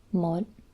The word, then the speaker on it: một: It's mod, and as you can see, it has a heavy tone. This hat symbol is a diacritic And it basically just changes the way you pronounce the O.